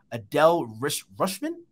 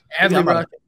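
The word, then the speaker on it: Rutschman: Adele Rushman? Did I say that correctly? Adley Rushman. Adley Rushman.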